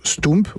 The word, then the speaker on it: stoemp: et ça se prononce ce tome pourquoi parce que au port vers j camp flamand ça se prononce ou comme pouces comme poelvoorde comme un certain nombre